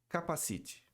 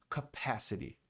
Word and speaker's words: capacity: Muita gente fala capacite. Capacite. Capacite parece aquele negócio que você põe na cabeça quando vai andar de moto. A pronúncia correta é capacity.